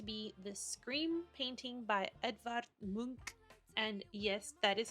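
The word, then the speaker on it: Edvard Munch: is going to be The Scream painting by edar Mo and yes that is how it is pronounced I had to look up the exact pronunciation because somehow Edward Munch just didn't sound right anyway here is the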